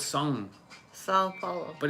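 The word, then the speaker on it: São: It's not Sao, it's Sung. Sao Paulo. But it's hard to say properly because I just say ng on it like sung, but it's more like song.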